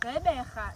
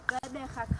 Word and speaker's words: Gqeberha: to pronounce the word Gqeberha. It has 3 clicks, right? As I said, the word is a combination of Khoisan as well as isiXhosa. The first click is the GQ.